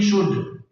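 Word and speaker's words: should: एल खामोश है यानी साइलेंस तो ये एल साइलेंट है इसको नहीं पढ़ेंगे इसको शुड नहीं पढ़ेंगे बल्कि इसको पढ़ेंगे शुड और पांचवा कहता ये है कि अगर किसी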